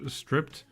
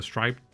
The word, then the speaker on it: striped: Like the magazine is stripped. Not stripped. Striped. Striped. Is that how you pronounce it? Stripped would be something else.